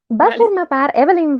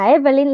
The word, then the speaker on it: Evelyn: Evelyn Waugh va formar part de la Breed Young People, aristòcrates esbojarrats.